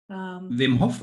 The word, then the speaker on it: Wim Hof: Wim Hof.